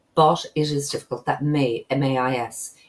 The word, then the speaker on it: mais: That may, M-A-I-S. Even though it's spelled M-A-I-S, it's pronounced may.